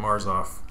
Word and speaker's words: Marzolf: You did, Marzolf. Yep. Marzolf. Don't pronounce the L as silent. The L is kind of silent, so.